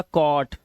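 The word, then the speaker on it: caught: तो इसे पढ़ेंगे क और जो हमारा जी एच टी है इसमें जी एच को हमेशा हम क्या रखते हैं? साइलेंट रखते हैं। तो हम क्या पढ़ते हैं? सिर्फ टी को पढ़ते हैं। तो ये हो गया कॉट ये कॉज नॉट नॉट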